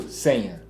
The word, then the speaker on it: Seña: Vamos falar essa pronúncia Senha, né? Senha.